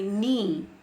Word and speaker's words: knee: Similarly, if you see silent K, like whenever we say knee, we never pronounce knee.